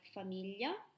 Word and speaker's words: famiglia: yeah so you've heard these in words like famiglia hmm when I write down communion so Commedia